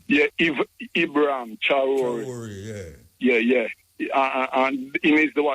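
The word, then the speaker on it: Traoré: Can you please pronounce his last name, Muta, the South African president? Traore name. Yeah, Ibrahim Traore.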